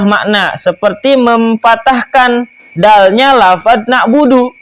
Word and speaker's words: na'budu: Demikian pula orang yang salah membaca Fatihah tadi yang tidak mengubah makna seperti memfatahkan dalnya lafaz na'budu. Harusnya iyyaka na'budu, dia bacanya iyyaka na'buda.